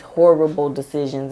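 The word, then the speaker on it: Whorible Decisions: Oh, Horrible Decisions, and it's spelled like whore, like you're a whore, but it's Horrible Decisions, and they talk about a lot of stuff on there.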